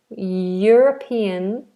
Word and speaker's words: European: can say yes yes middle of the tongue is high European Union European Union or